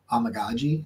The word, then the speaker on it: Amegadjie: to say his name you just need to make sure you're saying you're essentially saying like oh my God G like amagi that's how you say yeah um anyway uh